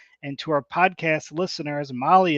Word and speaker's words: Mahle: And to our podcast listeners, Molly is spelled Mahle.